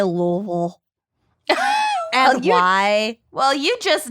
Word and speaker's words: Louisville: main advice is to say it like you're drunk on bourbon so just slur it oh it's kind of